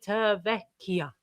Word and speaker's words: Civitavecchia: Civitavecchia. That's how you say it. Civitavecchia.